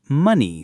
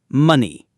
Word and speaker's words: money: Now, for our pronunciation tip, we used the word money today. In many British accents, the letter O in that word makes an h sound. It's the uh sound. Listen. Money.